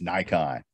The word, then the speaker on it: Nikon: bokeh same exact thing we also say nikon wrong so there you go yep it's nikon hey what ah thank